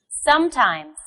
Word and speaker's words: sometimes: Sometimes. Yes, the first syllable is stressed.